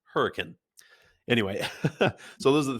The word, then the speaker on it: Hurricane: Hurricane Utah it's spelled like hurricane but it's pronounced hurricane anyway so those are the three biggest cities